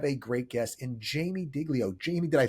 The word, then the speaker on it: Diglio: Well, apparently, no, they actually, I guess the real pronunciation is Diglio. Yeah, it should be, but right. It's a thing. Yeah, totally a thing. Right. The original name of my people had a G in it that totally